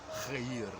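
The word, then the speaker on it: الخير: Sometimes I exaggerate that khain letter so that non-Arabic speakers can clearly distinguish these sounds, which don't exist in any other language. So al-khair. Khair. What's that? The khain letter with a short a vowel and then a long e vowel, ear into the a.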